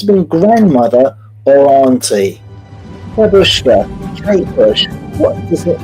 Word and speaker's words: Babushka: Is how it's supposed to be pronounced. Babushka.